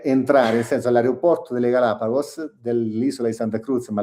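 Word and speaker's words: Galápagos: Il problema è che quando Quando arrivi, arrivi per entrare, nel senso all'aeroporto delle Galapagos, dell'isola di Santa Cruz, ma l'altra era uguale, lì paghi $200 solo per entrare al parco, ogni persona.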